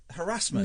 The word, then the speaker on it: harassment: Harassment? No, it's not harassment. It is. It rhymes with embarrassment.